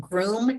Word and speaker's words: Groome: There's a private company called Groom Transportation, and it's spelled Groome.